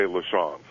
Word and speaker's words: LaChance: come on this show when you say lesons because it's the way my grandfather said it and it's actually the